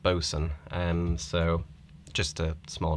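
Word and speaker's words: boatswain: bo80 sw-a-i-n and but it's always pronounced boson um so just a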